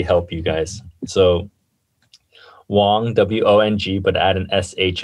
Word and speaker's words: Shuang: your last name yeah it's um i i'll phonetically help you guys so wong w-o-n-g but add an s-h in front of